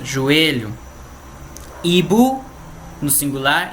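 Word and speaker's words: hibou: Genou, genou no singular e no plural, mesma pronúncia. Joelho. Ibu no singular e no plural, mesma coisa.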